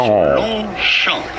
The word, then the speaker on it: Longchamp: Longchamp. Note that the T and the P at Longchamp are silent, as is often the case with many words in French.